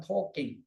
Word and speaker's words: talking: Karena the man yang di sini, talking ini, talking, tapi bacanya yang benar adalah talking, ya tanpa l.